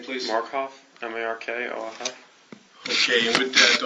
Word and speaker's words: Markoff: Would you pronounce and spell your last name, please? Markoff, M-A-R-K-O-F-F.